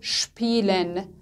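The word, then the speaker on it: spielen: همین قانون رو برای اسپه هم داریم، اگه در ابتدای سیلاب بیاد صدای اشپ میده، مثل شپیلن، شپیلن به معنای بازی کردن، شپغشن، شپغشن به معنای صحبت کردن هستش.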